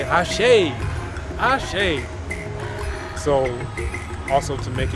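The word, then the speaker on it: Àṣẹ: Then they say Ashe, Ashe.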